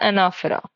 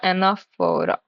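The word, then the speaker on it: anaphora: बाद 17 नंबर पर एना फरा ठीक है एनाफोरा पूरा फ प्रोनाउंस मत करना एना फरा यह क्या हो होता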